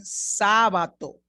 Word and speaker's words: Sábato: Me llamo Carmen Sábato. I'm saying Sábato because the A has an accent. Remember, in Spain, it would have been pronounced Sábato.